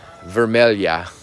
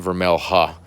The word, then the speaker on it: vermelha: Grumichama, vermelha is how you say it, not vermelha.